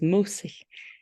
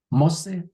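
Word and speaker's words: mósí: And you're going to say a, and we've been saying mosse here. A mosse at I've been mispronouncing it. I thought it was Mosi. It's yeah. say it again. Mosse. Some people say ma like mother.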